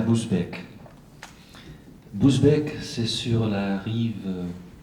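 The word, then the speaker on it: Busbecq: Les lettres turques, Epistulae Turcicae, en latin donc, d'Auger Ghiselin de Boesbeek, Boesbeek, dit-on chez nous, ça c'est la prononciation exacte, tiennent une place particulière dans cette production, surtout en raison de l'identité de leur auteur.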